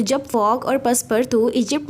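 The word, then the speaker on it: Passepartout: लेकिन इसकी प्रोनाउंसिएशन होगी पर्सपर्तू। तो फ्रेंच में इसको बोलेंगे पर्सपर्तू।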